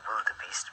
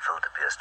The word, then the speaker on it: wildebeest: It gets up his nose terribly when we say wildebeest, because of course it's a wildebeest, because it's a Dutch word or Afrikaans word, and we should say it as such.